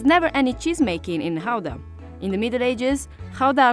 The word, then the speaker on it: Gouda: depending on whether you're a native you would pronounce it either GAA or Howa so since we're talking about authentic Dutch cheese we're going to call it Howa the cheese takes its name from the city